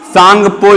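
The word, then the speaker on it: Tsangpo: तो उसका उत्तर होगा सांगपो। इसमें टी साइलेंट है, सांगपो बोलेंगे।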